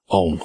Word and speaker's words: Ogham: Ogham itself is spelled O-G-M-A, but it is pronounced Ogham.